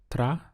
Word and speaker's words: trabajar: The verb to work is trabajar. We have 3 syllables. Tra-ba-har.